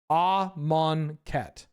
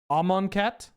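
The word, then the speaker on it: Amonkhet: All of their branding and their official media has and and the pronunciation guides have this set up as Ammonet, right? Amanet.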